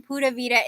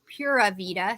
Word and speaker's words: Pura Vida: Ooh, excuse me, it's Pura Vida. So Puravida, and it means pure life, and it's actually pronounced Pura Vida, which is pure life, which I am wishing for all of you today.